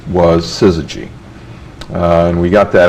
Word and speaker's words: Syzygy: and the fact that nobody could pronounce it or spell it didn't seem to bother us and uh people called us suzuji and suzuji and and